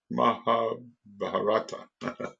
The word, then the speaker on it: Mahabharata: The war which is told to us in the Mahabharata, how do we pronounce that? Mahabharata.